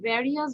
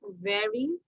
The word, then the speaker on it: varies: আচ্ছা এখানে সবাই কেন various বলো? Its pronounce is varies, varies, varies. আবার বলছি এটা pronunciation হচ্ছে varies.